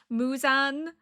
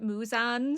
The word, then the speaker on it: Muzan: to find one and it said Muzan like moo as in moo and then zan as like Muzan so I'm like hopefully that is correct. Last episode was incredibly interesting. We have met Muzan in person now and